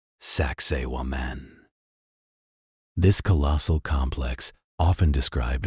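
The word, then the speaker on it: Sacsayhuamán: Finally, we travel high into the Andes mountains of Peru, overlooking the ancient Inca capital of Cusco to behold Sakaiwoman, pronounced Saxi Wan.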